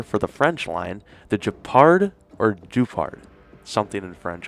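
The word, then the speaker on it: Guépard: But I'm going to stick, I think, between those two, the Guepard and the Guepard and the Guepard. I know the Pard, the last syllable is the Pard, but we're going to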